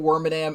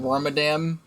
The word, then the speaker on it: Wormadam: i always call it wormadam i've always called it worm a dam ever since i was a kid but it's it's pronounced worm adam because it's worm and madame because and it's the